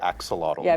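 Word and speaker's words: axolotl: We're all going to learn how to say axelottle.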